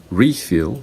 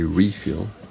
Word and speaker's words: refill: refill that's a verb so when you say refill refill the stress is on the first syllable and when you say refill the stress is on the second syllable the same thing is